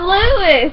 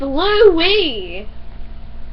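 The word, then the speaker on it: Louis: And it's not Lewis, it's Louie.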